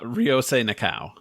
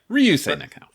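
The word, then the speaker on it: Ryūsei Nakao: Ryosei Nakao.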